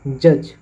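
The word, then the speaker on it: judge: रखा जाता है जैसे जज जे यू डी जी ई यहां पर डी को साइलेंट है जज प्रयोग हो रहा है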